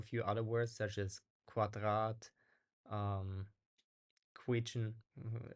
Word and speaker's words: Quadrat: other words such as quadrat um qu like here so it's basically it sounds like there's a w sound after right like and okay